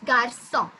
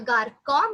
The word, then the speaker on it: garçon: Yes, garçon. If the accent C cédille would not be there, we could have pronounced it either garçon maybe, but as it's there, we pronounce it as garçon.